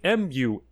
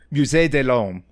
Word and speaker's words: Musée de l'Homme: She joins the Musée de l'Homme, which I did not pronounce right, but is like Museedelhomme.